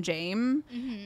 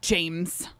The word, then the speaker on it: Jame: names but like cuz nobody pronounces the s in Tai like a Tha person would be would call him Jame and so he he very clearly is like James it's very fun like